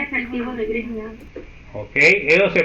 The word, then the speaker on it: Grignard: C efectivo de Grignard. Ok, eso se pronuncia Grignard. Eso es un nombre en francés y la GN se pronuncia como ñ en español. Entonces sería Grignard.